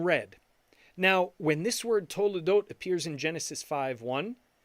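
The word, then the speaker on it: תולדות: Now, when this word toledot appears in Genesis 5:1, they only write the vav once, but it's still pronounced the same way.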